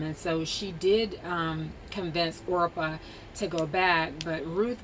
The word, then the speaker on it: Orpah: She and her sister-in-law, Orpah, and it is pronounced Orpah, not Oprah, they were married to Naomi's sons.